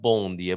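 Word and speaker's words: bom dia: be a Bo B B I know it's pronounced bondia but that'll be boom and forgive me for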